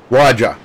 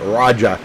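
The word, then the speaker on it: Rajah: Raja. Yeah, okay. Raja Caruth. Sorry. Yeah, like almost like you would say Roger, only say it Raja. Just with the accent, yeah.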